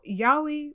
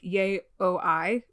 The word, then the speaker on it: yaoi: when you're listening so yaoi which looks like yay oh i which is how i pronounced it for a while because